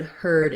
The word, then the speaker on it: herd: And just one more thing to mention, there is a word herd, H-E-R-D, like a herd of animals. This is the herd past tense of to hear. So that herd has the same pronunciation, less commonly used and